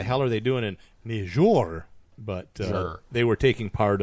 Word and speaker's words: Niger: No, it's Niger. Niger. Yeah, you're right. You have the Niger. Niger. The accent is on jour. Niger. Niger. Let's say it one more time. It's French. Niger.